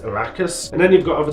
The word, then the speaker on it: Arrakis: The planet Dune's proper name is pronounced Arrakis.